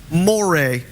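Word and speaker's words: moiré: Moray. Moray, like the eel.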